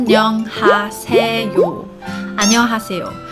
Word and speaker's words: 안녕하세요: say this sentence but the important part is when it pronounced us which is like there s equivalent in the Korean character she I actually find it's difficult sometimes as well so it will take